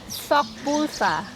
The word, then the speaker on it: Seokbusa: We have another roommate who speaks Korean, so she can pronounce it correctly. It's like this. Okay, Seokbusa.